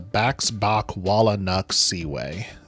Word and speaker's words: Baxbakwalanuxsiwae: think is pretty cool, is the Baxbakwalanuxsiwae. And yes, that is how you say it.